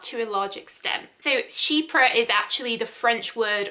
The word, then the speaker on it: chypre: us and uk so shepra is spelt c-h-y-p-r-e and but it's pronounced like sheep you know sheep like